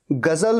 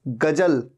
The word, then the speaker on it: ग़ज़ल: ऊ तो कभी देखिएगा ग़ज़ल में ज्योति बिंदु होता है ऐसा नहीं होगा कि बिंदु नहीं होगा यह ग़ज़ल नहीं है गजल गजल नहीं गज़ल गजल ग़ज़ल और इसीलिए स्पेलिंग में